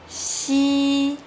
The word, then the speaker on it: x: Xi.